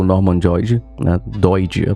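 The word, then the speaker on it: Doidge: Quem falava sobre isso também era o Norman Joyd, né, Doid a pronúncia.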